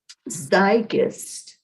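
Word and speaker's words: zeitgeist: go back up to the pronunciation that gear tree told me zygust because i just i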